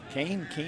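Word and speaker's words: Keane: Is that Kane? Is that how you say that? Let's see here. Kane, I guess K-E-A-N-E. That would be Kane? Kane, yeah. Kane.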